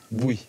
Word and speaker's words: Bouhy: D'ailleurs, on dit Bouilly ou Bouilly? Oui. Bouilly, ça c'est la bonne prononciation Oui.